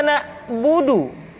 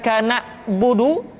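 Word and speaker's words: نعبد: Kemudian perhatikan ketika huruf Ain disukun, maka suara kita tidak boleh mati. Contoh, iyyaka na'budu, bukan kana budu, tetapi agak ditekan sedikit, kana budu, iyyaka na'budu.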